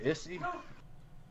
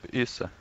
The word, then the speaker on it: Issa: How do you say your last name? Issy? Issa. Issa.